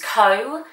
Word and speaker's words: Koh: step further now and I use KO which is spelled Koh and I link a